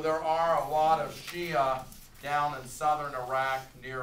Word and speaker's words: Shia: would the other group is the Shiites or Shia sh sh a I will take either on the test you can say sh sh a Shia or sh h i t s be careful